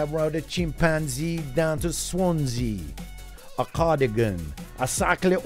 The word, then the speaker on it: Swansea: So it is the M4, A483 to Swansea. It rhymes with chimpanzee. A483, I ride a chimpanzee down to Swansea.